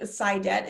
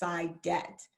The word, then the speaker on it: Saidat: My first name, Saidat, is Arabic, and it's actually pronounced Saida, but my dad is from Nigeria, and so the pronunciation is Saidat, and that means profitable and happiness.